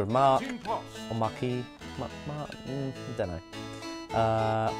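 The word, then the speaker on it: marque: have private ears just mark key oh go Mark oh pronounced like Mark yeah I thought it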